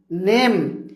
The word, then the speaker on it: name: অর্থাৎ একটি ইংরেজি শব্দের শেষে যদি ই থাকে তাহলে আমরা ইকে সাইলেন্ট লেটার ধরে নিই, ই অনুচ্চারিত থাকে। উদাহরণ দিলে আপনারা বুঝতে পারবেন। দেখুন উদাহরণ, NAME নেম।